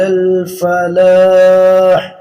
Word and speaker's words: الفلاح: الفلاح حی علی الفلاح۔ یہ حی ہا شروع میں اور عین ہے اس کے بعد، علی الفلاح آخر میں فلاح کے ہا نہیں ہے۔ حی علی الفلاح، اللہ اکبر اللہ اکبر،